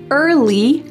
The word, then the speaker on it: early: There are three words early, bird, and worm that use a colored R. So in American English, this R is a strong hard sound.